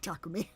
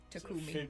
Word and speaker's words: Takumi: Yeah, Takumi. Takumi. It was a 50-50 in my brain. Tony. You're Right. basically trying to not emphasize the middle syllable.